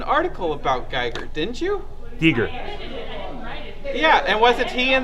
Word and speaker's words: Giger: of illustrations and artwork we got people in the chat room saying Giger Giger that's correct people in the chat